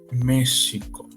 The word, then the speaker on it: México: de esa palabra es México Así es así como lo escuchan es con sh Pero por qué Sí